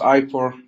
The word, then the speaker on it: IPOR: who's joining us from do you do you pronounce it iore Kuba how do you pronounce it yeah it's ior it's it's just iore uh it's okay perfect IP it's always a